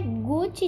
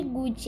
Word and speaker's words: Gucci: para quem não sabe não é Guti de Gude ego se escreve Gucci mas se fala gut gut gut Olha a